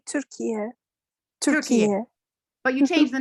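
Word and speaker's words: Türkiye: In Turkish, we say Turkiye. Turkiye. But you changed the name, right? Yeah, right. United Turkiye, Nations accepted.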